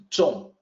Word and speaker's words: 重: It's pronounced zhong.